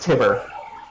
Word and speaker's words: Tibbir: His name is Tibber. Dibber. Yep. Huh. Rhymes with It fibber.